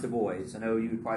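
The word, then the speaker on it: Du Bois: T Washington so WB Dubois and it is pronounced the boys I know you would cry safety ball but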